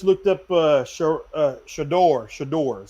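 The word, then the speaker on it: Shedeur: Shador, that's how you say his name.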